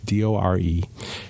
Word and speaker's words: Dore: I think that's how you say her name, Dore.